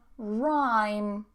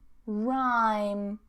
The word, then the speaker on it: rhyme: Next one, rhyme, rhyme, rhyme, no H.